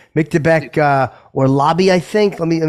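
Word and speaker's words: Orolbai: a that I mean he's a Powerhouse that or Lobby am I saying it right yeah yeah or Lobby keep an eye out for him Jimmy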